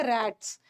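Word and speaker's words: gnaw: ना बाइट करना जैसे रटस कुछ एनिमल्स होते हैं जो कुतर हैं ना जैसे नवर्स रटस वगैरह को बोलते हैं कुतर वाले एनिमल्स ओके निबल करना बाइट करना कुतरना रट इसका जी साइलेंट है और जो कुतर वाले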